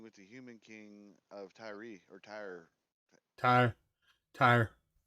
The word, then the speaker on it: Tyre: actually be dealing with the human king of Tyree or Ty Ty Tire like do tires it's t y r e yeah I'm sit here looking at it but that's how you pronounce it like yeah Tire yeah Tire okay uh some of suggested that